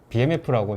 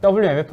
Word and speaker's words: BMF: 보시면 여기 BMF라고 제가 상품 홍보하러 온 건 아니고요. 여기가 이제 되게 잘 만드는 고급 뭐 스테인리스 스킬류를 만드는 WMF 아니고 BMF라고 읽으셔야 된다고 하더라고요.